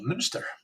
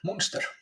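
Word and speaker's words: Münster: The U you pronounce like Ö, so Munster. Valur, yeah, Munster. Manuel, Munster.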